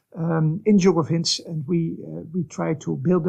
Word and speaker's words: INJUGOVINS: which we abbreviate to INJUGOVINS, as you properly pronounced, INJUGOVINS, and we try to build up knowledge in